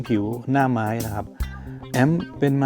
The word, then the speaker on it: Amped: แก่ แอม Pro Air แอม นะ ครับ มี หลาย ๆ คน ออก ออก เสียง เพี้ยน ไป นิด หน่อย มัน คือ แอมป ถ้า จะ ออก เสียง ให้ ชัด ๆ แบบ เจ้า ของ ภาษา ก็ จะ มี เสียง ท ถ ถุง สระ อึ แอม บาง คน อ่าน ออก เสียง เป็น แอม เพด ไม่ ใช่ นะ ครับ แ แ Pro Air